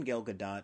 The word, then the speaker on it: Gal Gadot: hey I said it right I'd never seen gal gadot and a lot of other things I'm not